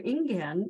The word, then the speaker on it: Ingen: to the general population the founder ingan which is a Japanese pronunciation for his Chinese name lived from 1592 to